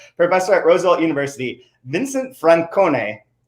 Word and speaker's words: Francone: at roosevelt university vincent francone good pronunciation chad i went hard i leaned into the italian for you yeah i'm cloudy somebody